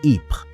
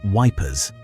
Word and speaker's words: Ypres: British soldiers could not pronounce Ypres, the Belgian city around which some of the most brutal fighting of the war took place, so they called it Wipers.